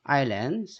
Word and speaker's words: island: 자, 아일랜드, 섬이죠. 요거는 이제 묵음되는 거 아시죠?